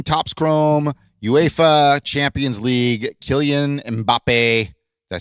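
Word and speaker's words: Kylian Mbappé: And then a 2017 Topps Chrome UEFA Champions League Killian Mbappe.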